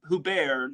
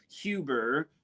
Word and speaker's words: Huber: my book as they had Norbert or Norbert hubar yes it's actually pronounced H hubar not Huber contrary to popular belief um he had himself